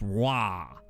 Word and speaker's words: Roy: That means his name would be pronounced like Maxence Roy. Like Patrick Roy.